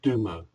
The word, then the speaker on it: Dumo: This symbol, the Dumo, is pronounced Dumo.